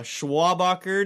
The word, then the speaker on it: Schwabacher: last name it's a grand salami of a schwabacher day schwaber it's Char schwaber as in Charles